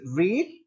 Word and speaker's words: read: That is रीड first form, रेड second form and रेड second form as well और third form as well, right? तो second और third form जो है वो रेड होगी जब हम प्रोनाउंस करेंगे,